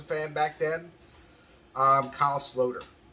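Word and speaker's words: Sloter: back then um Kyle slowder I used to call Kai Slaughter until I figured oh that's not how you pronounce it I personally I like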